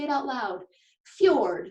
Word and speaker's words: fjord: pretty odd combination right this strange word is pronounced cured kind of like an FYI sound can you say it with me fjord say it out loud fjord it's your word alright so back to what